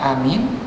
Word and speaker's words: amin: Kalau begitu dalam sembahyang jahar imam membaca amin, dalam sembahyang sir imam dan makmum membaca sir. Maka secara bahasa yang lebih tepat dia bacanya amin, a-nya panjang, min-nya panjang.